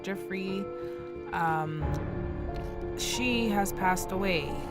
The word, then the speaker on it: Giuffre: It's not pronounced Grey, it's pronounced Jeffrey.